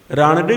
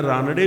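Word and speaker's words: रानडे: राणडे भी कहते हैं। उनका उच्चारण राणडे भी है, रानाडे भी है।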